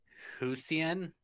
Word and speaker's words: Hisuian: It's Husian. Oh. Hisuian. I have no clue how to pronounce it.